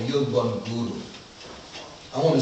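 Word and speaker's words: Yielbongura: My favorite Dagara word is a word called Yilbun Guru. I want to spell it for you so you can get a picture, because I'm literate like that too. Yep. Y-I-E-L-B-O-N-G-U-R-A. Yilbun Guru.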